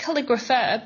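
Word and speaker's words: Calligraphr: It's spelled like calligrapher, but the E is missing off the end, so it's Calligrapher.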